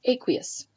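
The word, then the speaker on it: aqueous: matter it's not liquid it's called aquous or sometimes pronounced aquous then it mentions that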